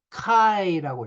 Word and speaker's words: 카이: 키 영어로는 키스라고 하는데요 헬라어이 그리스 알파베트 22번째 자는입니다 카이라고 읽어요입니다 이 카이는 교차를 나타내는